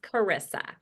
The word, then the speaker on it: Charissa: And my name is pronounced Charissa.